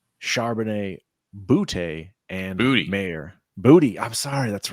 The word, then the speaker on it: Boutte: Booty. I'm sorry. That's right. We got the correct pronunciation. Booty. Finally Booty, got booty, booty.